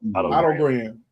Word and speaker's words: Otto Graham: And then moving closer to the top 10, number 12, Otto Graham. That's how you say his name, correct? Oh, yeah. Otto Graham.